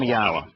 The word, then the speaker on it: Yahowah: Advancing those things are conspiracies that hurt people and keep people from Yahowah.